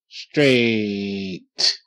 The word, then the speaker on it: straight: she lost weight yes straight stir a straight straight GH is silent okay now you see